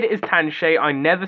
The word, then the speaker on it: Tanshe: their own model of it's tan shay and it's not tank shea if you pronounce it